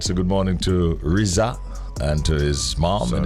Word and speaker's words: RZA: How to pronounce Rihanna's son's name? Riza.